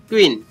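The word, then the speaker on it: queen: Next है क्यू यू, क्यू यू से उच्चारण क्या निकलता है, क्व या क, कैसे देखते हैं, क्यू यू, क्व ई न, क्वीन, क्व ई न, क्वीन।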